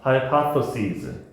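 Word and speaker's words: hypotheses: 그다음에 복수형은 따라읽자. 하이파토시즈 se즈로 발음하주면 돼.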